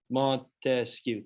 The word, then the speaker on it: Montesquieu: separation of power cannon remember i broke it up into three syllables montesquieu three yep there you go